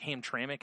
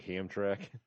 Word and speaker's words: Hamtramck: Like Hamtramck, I think it is. Which... Yeah. Looks like Hamtramck.